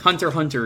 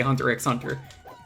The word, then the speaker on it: Hunter x Hunter: let's say because like hunter hunter is just hunter hunter you don't say hunter x hunter fighter x tekken street